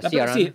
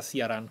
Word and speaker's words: Ciaran: Come si pronuncia? Ciaran? Sì, Ciaran.